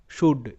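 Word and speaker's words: should: এল ডি কুড কুড সুড এস এইচ ও ইউ এল ডি সুড সুড সুড কিন্তু নয় cooled কিন্তু নয় মানে এল গুলো সাইলেন্ট উড কুড সুড পরের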